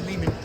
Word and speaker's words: Lehman: are you I'm good Ari Leman rhymes with demon the first Jason fores